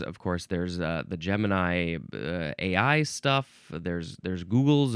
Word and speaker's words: Gemini: It's the word Gemini or Gmany. Um, some people also say Gman with a hard G sound and that makes sense.